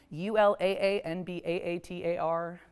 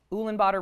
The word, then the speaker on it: Ulaanbaatar: U-l-a-a-n- b-a-a-t-a-r. Ulaanbaatar rhymes with daughter: that’s how I remember it.